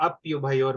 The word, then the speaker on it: अप्युभयोर: तयोरपि उभयोर्मध्ये उभयोर्मध्ये तयोरपि उभयोर्मध्ये इसको ऐसे राधिका प्रोनाउंस कीजिए, तयोर अप्युभयोर मध्ये, अपि नहीं बोलिए, अप्य, अप्यु, तयोर अप्युभयोर मध्ये।